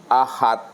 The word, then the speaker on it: Ahad: Kalaulah Ahmad tidak ada huruf mimnya, apa bacanya Bapak Ibu? Ahad. Nah, Ahmad kalau tidak ada huruf mimnya disebut bacanya adalah Ahad.